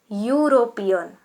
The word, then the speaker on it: European: In this way, European. European. E-U-R-O-P-E-A-N. European. Though the letter E is a vowel, but the sound is like U.